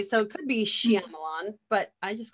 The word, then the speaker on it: Shyamalan: Okay, so I've always heard it M. Night Shyamalan until I started hearing people from like England say Shyamalan. They add something to it.